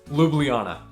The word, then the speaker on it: Ljubljana: is pronounce it and it's four syllables Luana lublana I was confus the